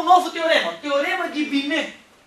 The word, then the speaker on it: Binet: teorema teorema de binet isso não é binet não binet é pros íntimos a galera de fora chama de binet certo porque em francês a gente não pronuncia ali geralmente a última a última letrinha né então um teorema